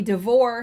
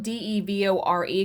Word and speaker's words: DeVore: films and thrillers devore and i think it's devore it's spelled d-e-v-o-r-e could be devore i'm going to say devore devore began working on